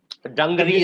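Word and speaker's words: dungaree: Your second pronunciation was correct. Dungri is how you pronounce the word.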